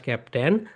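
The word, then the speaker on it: captain: এখানে সাইলেন্ট থাকবে। ওকে? আই এর প্রনান্সিয়েশন হবে না। তাহলে বল হু is your class ক্যাপ্টেন?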